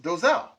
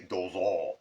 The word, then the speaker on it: Dosal: But my last name is pronounced Dosal. Sometimes people say Dozal. It's not Dozal.